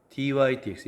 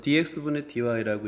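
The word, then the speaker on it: dy/dx: dy dx 얘는 분수가 아닙니다. 여러분, 요건 분수가 아니에요. 분수가 아닙니다. 그래서 dx분 dy라고 읽으면 안 돼요. 분자부터 dy dx.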